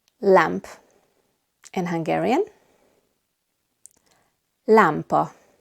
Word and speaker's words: lámpa: In Hungarian, lámpa. Lámpa. We have the 2 A's, one with an accent and one without. So now you can hear the difference better. Lámpa. The first one is A, the second one is A.